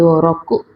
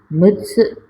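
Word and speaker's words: 六: Kemudian kanji nomor 6 yaitu roku, atau juga bisa dibaca mutsu, 6 buah.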